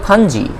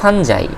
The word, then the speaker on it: fungi: কারণ ছত্রাক বা ফাঞ্জি বা ফানজাই সব কিছুই বৈধ উচ্চারণ, দেখো আমি লিখে দিচ্ছি তোমাদেরকে, ফানজি, FUNGI, এটাকে ফানজিও বলে প্লুরাল ফরম্যাটে, আবার ফাঙ্গাসও বলে, ঠিক